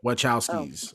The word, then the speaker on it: Wachowski: I mean, it was a comic, but the screenplay was done by how to pronounce that for me? The Wachowskis. Wachowskis.